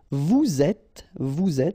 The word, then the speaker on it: vous êtes: so in that case, you get vous êtes, so you make the liaison between the two, and then avoir, to